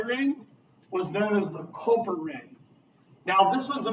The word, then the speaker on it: Culper: Connecticut or New York, and they couldn't really understand why they were naming it Culpeper, and they just called it Culper. So it's actually just a manipulation or mispronunciation of the what Washington wanted to be called.